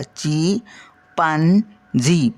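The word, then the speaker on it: chimpanzee: ए एन Z double इथे बघा spelling उच्चारामध्ये हा एम येत नाहीये बाकीचा उच्चार जो आहे ना तो याच्यावरून आहे चिपांजी बघा ची पान जी पण एम येत नाहीय उच्चारात तर हे लक्षात ठेवायच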